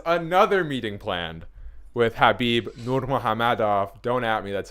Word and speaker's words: Nurmagomedov: dana white has another meeting planned with habib nurmagomedov don't at me that's how you pronounce it um says he is still the